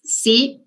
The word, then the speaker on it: psi: Entonces, en algunos libros pueden encontrar, la letra que se usa para potencial es PSI, PSI, como la de psicólogo, que no pronunciamos la P, sí.